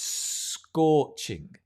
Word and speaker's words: scorching: can say it's scorching i want you to work with me on the pronunciation right notice as the the first letter is an s and it's you only need one s right it's scorching right instead of it's scorching just link it's scorching can you say that